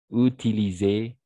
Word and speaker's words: utiliser: dans ces cas-là c'est le S n'est-ce pas le S mais on va prononcer comme un Z parce que le s est se trouve entre deux voyelles utilise voilà trier privilégié